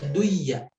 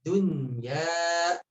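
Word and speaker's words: الدُّنْيَا: Tidak dibaca duya, ya. Annamal hayatud dunya. Ya-nya di sana mad tabi'i 2 harakat.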